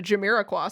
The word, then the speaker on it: Jamiroquai: referred to it casually multiple times as the Jamiroquai statue.